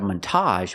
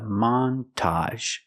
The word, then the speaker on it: montage: this word a montage we're going to stress both syllables not a montage but a montage the first syllable is the short a man Montage a montage is